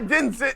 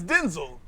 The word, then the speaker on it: Denzel: It's because he know it's not Denzel, it's Denzel. So, It's Denzel.